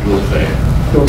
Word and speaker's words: Dulce: Oh, I did originally pronounce it as they did Dulce, okay. Spanish, which is correct.